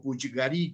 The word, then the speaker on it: Puiggarí: el sanatorio de Puiggarí, o Puiggarí, como sería la pronunciación correcta en catalán.